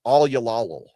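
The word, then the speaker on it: all y'all: you all will and is pronounced all yal.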